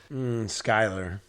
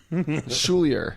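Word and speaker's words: Schuyler: spell that name but it's pronounced like the l comes before the y so like get the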